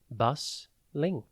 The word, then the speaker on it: bustling: Today's word is bustling. It is pronounced bus-ling and spelt B-U-S-T-L-I-N-G.